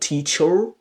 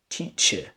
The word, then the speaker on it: teacher: For example, words like teacher, it's not teacher, teacher. Okay, doctor, teacher, doctor, father, mother.